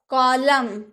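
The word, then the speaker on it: column: हम लोगों ने बोला कॉलम कॉलम यानी कि खंभा डैम डैम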